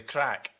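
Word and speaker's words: craic: Shane Ritchie is just doing it for the crack. And can you let the lawyer know that's spelled C-R-A-I-C, please?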